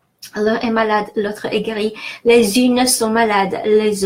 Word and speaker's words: guéri: Guéri, notice how we have U between G and E. If I didn't have U between G and E, I would pronounce G.